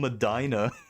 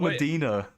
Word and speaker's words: Medina: Why is it called Madina? Why is it not Medina or Medina? What? Why do you pronounce the I so so aggressively?